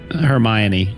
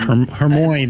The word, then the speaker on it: Hermione: Um see for me it was always Hermione. I saw that word and I'm like I don't know what that word is. Yeah. Um her heroine is what I used to hear.